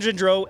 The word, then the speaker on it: Gendreau: it right oh that's good uh dr kevin gindreau uh author of fasting while furious how he